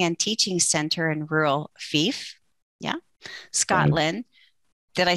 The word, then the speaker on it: Fife: training first with his parents and at their healing and teaching center in rural Fife, yeah, Scotland. Did I say it right? Fife.